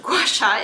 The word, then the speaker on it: gua sha: So Gua Sha, which is obviously pronounced Gua Sha, is spelled G-U-A S-H-A, and it is from